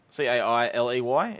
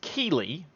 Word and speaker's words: Keeley: It's Keeley, for starters, not Cailey.